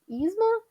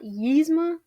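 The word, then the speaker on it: Yzma: than I did before it's it's isma not yma but I just said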